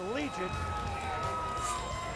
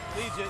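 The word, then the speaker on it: Liuget: Let's take a look at it's pronounced Legion. Legion, here you see him playing on the nose against Michigan.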